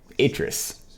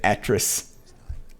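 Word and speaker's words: Atrus: try something new here my name is Idris apparently that's how you say it if I ever said actress I apologize many years ago but the red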